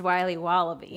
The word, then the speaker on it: Wiley Wallaby: Wiley's wallabies wallaby Wally's will be wobba beats pronounced Wiley wallaby well it's very good called Wiley wallaby and